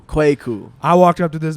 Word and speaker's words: Kweku: It's pronounced Kweku. Kweku.